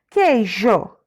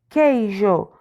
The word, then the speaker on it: queijo: e ia guia queijo queijo é q u e i j o mas quando a gente pronuncia parece ser só o que o é we o j e o não aparece a letrinha um a gente não fala letrinha o mas ela está lá isso significa que são